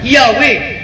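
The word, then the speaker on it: Yahweh: Lord is a substitute to theat to the pronunciation of theat according to the references ng K ibasa yahwe ang Jehova false reading daghan pa ang Lord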